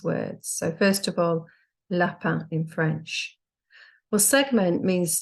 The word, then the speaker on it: lapin: So first of all, lapin in French. Well, segment means to split a word up into its constituent phonemes. So for example, to segment the word lapin, it will be l, a, un.